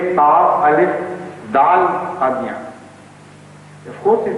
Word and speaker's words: Qadian: It happened this way, that the true pronunciation of Qaziyan was Qadian, has never been Qadian. So it was not a distortion of pronunciation, but a distortion of scripture, script, method of writing, nothing more.